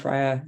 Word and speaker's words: Freya: And I mentioned Freya is pronounced the Danish way.